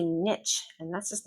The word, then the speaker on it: niche: Niche. I hear a lot of students say niche, and that's just not correct. It's niche. Niche. This is a French word. We pronounce French words in the French way.